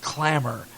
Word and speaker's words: Clammr: I got an email this week from a young lady from Berkeley University, and they're starting something that's called Clamor, Clammr, pronounced Clamor.